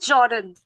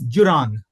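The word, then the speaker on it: Juran: take it away Joseph Jordan can you just repeat it pra Joseph Jordan Joseph joran or Joseph M actually the pronunciation is Jan okay Jan but I'll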